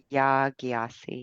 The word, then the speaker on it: Yaa Gyasi: Is that how you say it? Yaa Gyasi? Yeah, Yaa Gyasi, yes.